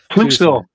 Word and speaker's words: Clouseau: We got Nigel and Carlos saying Nigel Herbert Lom loves Peter Sellers, Inspector Dreyfus, and Inspector Clouseau. Is that how you pronounce that? Clouseau. Oh, Clouseau, sorry.